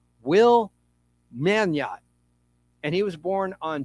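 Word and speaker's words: Meugniot: The G might be silent. Let me just say that Will's last name is spelled M EU G N I O T. Will Manot and he was born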